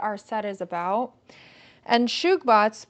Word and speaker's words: Subagh: set is about and shugbot's pronounced shoe bog it literally means fortune